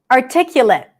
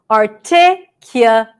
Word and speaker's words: articulate: Articulate. This word actually could be pronounced in 2 different ways. Articulate, someone who is articulate, or articulate, which is the verb. The ending is different.